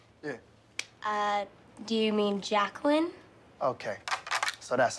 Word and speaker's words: Jacqueline: don't mess with me take a roll here Jay quellin what's Jay quillinet here yeah uh do you mean Jacqueline okay so that's how it's gonna be y'all